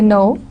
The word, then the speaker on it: know: rest of the words for example know in know KN o w you don't pronounce K and we say no there are some I